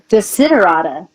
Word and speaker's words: Desiderata: The word is a one word that's pronounced Desiderata, and yeah, you can look it up.